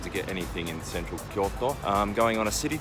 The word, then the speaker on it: Kyoto: It is 7 Kyoto. I don't know why I pronounce it like that. It's Kyoto. Kyoto. Good morning, Kyoto.